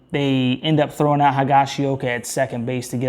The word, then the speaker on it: Higashioka: the field and then it's I think it's hagashioka I think that's how you say it the catcher hands up single on the right and Volpe scores and then they end up throwing out higashioka at second base to get out of the